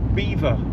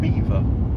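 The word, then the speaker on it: Belvoir: there is a castle and it is called Beaver Castle even though it is spelled um belor but it's pronounced Beaver which is which is bizarre but um I'm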